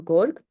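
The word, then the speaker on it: գորգ: carpet, as we say it in Armenian, or gorg, it depends how you want to spell it.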